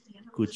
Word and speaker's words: could: Could you tell me the... Could you coba? Could bukan could, tapi coba bayangkan huruf itu, kata itu yang ada tinggal C, U dan D.